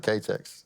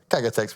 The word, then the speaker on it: Kagatex: Good pronunciation of Ktex, or Kagatex now. See, I even just read it wrong again, so Kagatex, we're getting there.